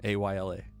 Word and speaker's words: Isla: The S is silent. No, not even an issue anymore because her name's been changed to Isla, Ayla.